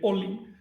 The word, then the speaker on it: olin: de Qué significa glif olin Qué quiere decir ol en malla se dice caban movimiento movimiento se escribe con una l se pronuncia con una l olin es apócope del verbo